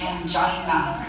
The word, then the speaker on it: angina: just for the record it's pronounced angina not Ang Emily you are the